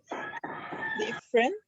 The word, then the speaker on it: different: Notice that the unstressed vowels are not pronounced.